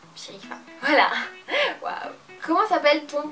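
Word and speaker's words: Cherifa: maman s'appelle shéifa alors ça s'écrit C H e r i f a et ça se prononce sherifa voilà waouh comment s'appelle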